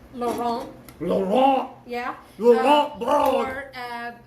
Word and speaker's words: Laurent: The last T in French is normally not pronounced, so it would be Laurent.